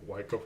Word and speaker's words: Wyckoff: Yeah, Wyckoff. I think is the right way to pronounce it.